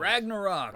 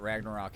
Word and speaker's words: Ragnarok: They call it Ragnarok, I know that. the destiny of the gods. Asgard will be attacked by Surt. Second R is pronounced as a exhale or A grunt monstrous after the wolf T, will like swallow the Surt.